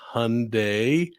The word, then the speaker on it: Hyundai: uh from from down in Australia um it's pronounced Hyundai uh that like Sunday and uh but there